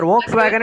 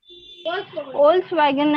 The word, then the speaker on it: Volkswagen: Volkswagen and PayPal. It is actually Volkswagen. It's not Volkswagen. It's pronounced as Volkswagen. Pronunciation is Volkswagen.